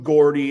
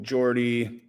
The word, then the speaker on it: Geordie: I did was true Gordy or to Jordy sorry I can't remember to say like Jordy when it's spelled Gordy but like uh you